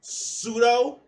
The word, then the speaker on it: pseudo: words out loud so when you hear pseudo you know not to you know pronounce the p like pinot p pneumonia like okay but i